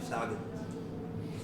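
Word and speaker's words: Sahuagin: I always pronounce this stuff. Sagrin. Sahagin? Yep, Sahagin.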